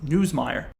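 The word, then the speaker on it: Nussmeier: I remember how to say his name now. It's Newsmire. Uh anyway, he is a Heisman candidate.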